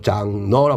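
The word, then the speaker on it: genre: 다음 장로, 이때 알리는 불어에서 유래한 접사로서 바로 장르라고 발음하고 종류별 나열한 것이 예술작품의 장르 의미가 됐고요.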